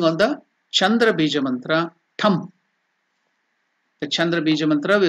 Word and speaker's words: Tham: So the it is given there, T-H-A-M. It has to be pronounced as not Tham, it is Tham.